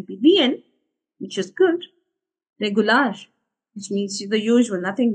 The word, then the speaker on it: regular: can say regular okay pretty much the word that we have in English but the pronunciation is a little different regular which means okay okay